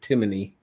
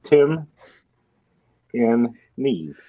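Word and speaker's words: Timney: why they pronounce it with an extra I in there, but again, I also don't understand why anybody would pronounce it Timony. It's Tim in knees.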